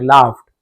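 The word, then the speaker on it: laughed: यहां पर भी लाफा पढ़ेंगे। लॉग्ड नहीं पढ़ेंगे। लाफ्ड वे हंसते थे।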